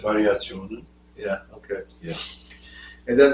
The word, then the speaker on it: Variationen: Variationen? Variationen.